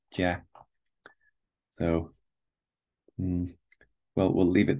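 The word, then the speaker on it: 架: On the top you have the pronunciation, jia.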